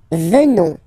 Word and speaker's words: venons: Nous venons, okay, O-N-S, classical ending for nous, okay, final S not pronounced, so O-N, on, venons, venons, nous venons, nous